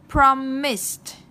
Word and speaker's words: promised: Promised, kết thúc bằng âm sờ, chúng ta đọc là promised. được chưa?